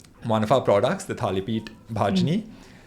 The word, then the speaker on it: Thalipeet Bhajni: My mother likes telling this story where one of our products, the Thalipeet Bhajni, she says that Siddharth, when he first encountered it, pronounced it as Thalipeet Bhajani, which is a blatantly untrue story, but still one that she likes to utter.